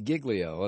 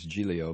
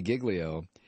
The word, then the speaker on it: Giglio: Uh, I told you last night that Louisie Gigglio, and that's the way he pronounced. I thought it was Gileio, but it's Louis Gigglio, the Reverend, the Atlanta